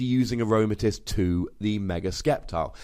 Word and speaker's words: Sceptile: Somebody else pointed out that it's Sceptile EX, or, you know, the C is silent.